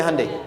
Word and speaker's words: Hyundai: Hyundai kan dibacanya Hande ya kan?